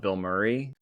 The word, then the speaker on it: Bilmuri: There's a band called Bill Murray. It's not the actor Bill Murray, but it's spelled Bilmuri, and they have they do